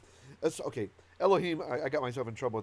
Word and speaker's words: Elohim: in pronunciation right so most of you know the rule to be respectful when we're not praying to god we refer to him as elokim and if you've ever